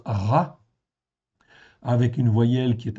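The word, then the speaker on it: רַע: s'appelle un patard ok c'est un a donc ça se prononce ra en faitant en hébreu ce mot-là existe 663 fois dans 623 versets.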